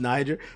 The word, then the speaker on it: Niger: I know that that's pronounced Niger, but motherfuckers gonna be like, oh, I didn't know.